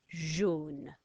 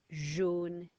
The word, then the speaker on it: jaune: J, o, n, jaune, jaune is yellow.